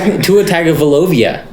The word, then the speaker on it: Tua Tagovailoa: Tua Tagovailoa. Tua. It's his fault. He got his name wrong.